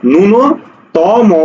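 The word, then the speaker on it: ন্যূনতম: দেখবা প্রচুর আসছে এটা তাহলে এটার উচ্চারণ কি হবে নয় উসকার করে নুন দন্ত ন করে ন নুন ত মও করে ম নুনতম অর্থাৎ উত্তর হবে ঘ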